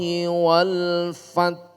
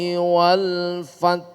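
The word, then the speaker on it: الفتح: Yang jelas tidak boleh dibaca fattah. Enggak boleh fatah. Berarti kalau fatah berarti taknya itu hidup. Padahal taknya ini ma mati. Ini ikhfa bimaknal jadid ya. Jadi bacanya idza ja nasrullahi wal fatah. Kalau dimunculkan gini wal fatah gitu kalau dimunculkan. Tapi haknya muncul separuh saja. Idza jaa nasrullahi wal fath. Wal fath.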